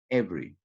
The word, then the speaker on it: every: For example, the first is every, you pronounce every.